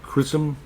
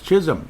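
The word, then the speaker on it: Chisholm: qualifying offer for Declan Crusom. I I keep saying it wrong. It's Chisum. It is Chisum. You know, all this time I I thought there was an R. There is no R.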